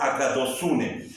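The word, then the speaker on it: ἀγαθωσύνη: la palabra griega agune Es cierto que se escribe agatos unee pero la pronunciación es agados unee y a la vez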